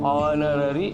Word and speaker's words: honorary: We call that word as a honorary. But a very important thing is H is a silent. Here this word H should not be pronounced. H is silent. Honorary అని పలకాలి.